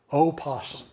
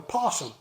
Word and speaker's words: opossum: Now, for those who don't know, this is silent. Don't ever say opossum, because it's silent. And you're not just, of course, you're being Southern, but you're being right in Southern when you talk about a possum.